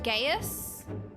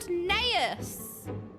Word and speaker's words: Gnaeus: Lord Gaius? Because you don't pronounce the N? No! You don't pronounce the G! Lord Gnaeus and Metius, magistrates of our political council.